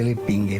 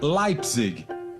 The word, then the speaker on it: Leipzig: Para a professora Simone, todo mundo pronunciava de forma errada o sobrenome de Adolfo. O correto seria Leipzig.